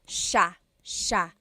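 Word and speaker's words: siya: It looks like it should be pronounced sa cia but it's actually pronounced sha sha. So the s i y it's a sha sound.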